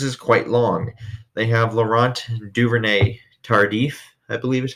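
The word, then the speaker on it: Laurent Duvernay-Tardif: They have Laurent Duvernay Tardif, I believe is how you say it.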